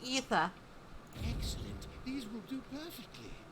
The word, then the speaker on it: aether: It's pronounced ether.